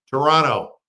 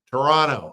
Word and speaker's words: Toronto: Toronto, the second T is silent. Toronto. Toronto.